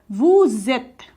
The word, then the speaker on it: vous êtes: When, जब हमारा कोई भी पहला जो वर्ड है वो वोवेल्स कॉन्सोनेंट से एंड हो रहा हो एंड सेकेंड वर्ड हमारा वोवेल से स्टार्ट हो रहा हो, तो हम इसे साथ में प्रोनाउंस करते हैं वू, एंड ये हमारा ज बन जाएगा।